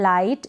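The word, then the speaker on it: light: अगर आप प्रैक्टिस करते हैं प्रोनाउंसिएशन की, तो आप क्लियरली इंग्लिश को पढ़ना, रीड करना सीख जाएंगे। नेक्स्ट है लाइट।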